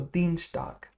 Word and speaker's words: Dienstag: How would we pronounce this? Montag, i.e., will we call it Dienstags or Dienstag? Now, i.e., if you might remember, makes e, so it's Dienstag.